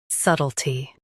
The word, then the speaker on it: subtlety: Both US and UK have the same pronunciation of this word, subtlety. Now read the syllables shown on the screen naturally. S, to, t, subtlety. Emphasize sut and soften t.